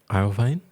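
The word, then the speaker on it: Iovine: iine um I o v i n e iine yeah into SC per the co-founder oh okay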